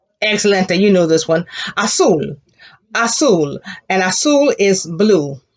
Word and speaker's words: azul: global assume global assume the z has the s sound class a global assule global azul will and i think